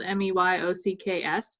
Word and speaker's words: Meyocks: I'm in an account planning and account services role for Meyocks, and it's spelled Meyocks, but it rhymes with geeks.